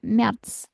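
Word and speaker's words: März: jadinya y Yanuar ya Mer a Um laut dibacanya e Mer ya Yuni Yuli ya augus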